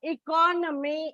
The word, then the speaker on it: economy: in the stress marking like economy it is on the second syllable economics it's on the third syllable and you should remember